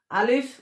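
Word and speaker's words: ألف: আলিফ উচ্চারণ করতে হলে মুখ বন্ধ হবে না। আলিফ এইভাবে হবে না, আলিফ বাতাস বের হবে।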